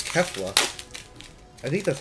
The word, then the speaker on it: Kefla: Keflu? Keflu? Keflua. Keflu. I think it's Kefla.